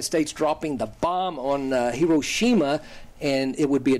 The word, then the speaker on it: Hiroshima: and that was uh President Obama going to hirosima uh sometimes pronounced Hiroshima and here let me read you his first